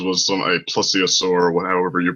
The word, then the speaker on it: plesiosaur: But no, Loch Ness Monster, everybody who won't accept that there's no such thing says was a plesiosaur, however you pronounce it.